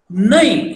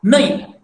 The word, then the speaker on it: nai: Nai. See, na, naka, nai. Nai means N-A-I-N I have written. So, the pronunciation is again nasal.